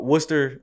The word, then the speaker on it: Worcester: So you went from Princeton, and it looks like you went from, am I saying it right, Worcester? So Worcester was the school I went to.